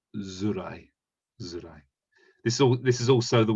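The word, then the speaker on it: づらい: But when we can use it as a suffix, but instead of saying tsurai, we pronounce it as zurai.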